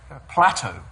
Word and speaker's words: Plateau: so he got PL Plateau Plateau no not plate not plate oh sorry not Plato we thought You' mispronounce